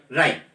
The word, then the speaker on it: wry: And both राइट, WRY, ये pronunciation correct करें आप, WRY राइट, both राइट with the लेबर्ड ease of loss.